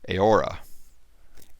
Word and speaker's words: Eora: EO sounds like AO. This sound is still used in the modern word Eora.